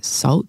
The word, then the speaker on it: SVLT: one is with jesse his name is um salt it's spelt svlt shout out to jesse